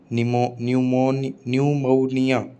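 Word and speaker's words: pneumonia: पी या पे always remain silent in sequence of पी एन और पी एस। कभी भी पी और एन एक साथ लिखा हुआ आ जाए, पी एस लिखा हुआ आ जाए एक साथ, तो हमेशा पी साइलेंट रहेगा। जैसे साइकोलॉजी, साइकोलॉजी, साम, साम, न्यूमोनिया, न्यूमोनिया, न्यूमोनिया। ठीक है, पी नहीं बोला तीनों में।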